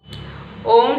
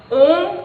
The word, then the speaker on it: ॐ: तो जब हम ओम का उच्चारण करते हैं तो हम इसमें 3 प्रकार की ध्वनियाँ होती है, तो अ, उ और म।